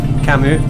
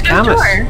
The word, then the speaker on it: Camus: love Kamy the philosopher but I read his work before I knew how to pronounce his name oh so quite an early stage I did realize that I was wrong it was already set in my head you know I was like he's cameras that's his name he